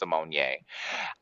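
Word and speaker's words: Symoné: was raven simonier and that's really how her name is pronounced simonier i all i thought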